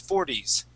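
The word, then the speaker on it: forties: end of that word instead of saying pronouncing that t saying four T we want to say four D's 40s 40s good and we want to do the same thing with 30s with the D sound at the end 30s 30s good good other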